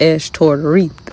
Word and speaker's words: Ashtoreth: Okay, so with that being said, a lot of people don't know about Ashtoreth because that's really how you pronounce it. It's pronounced Ashtoreth.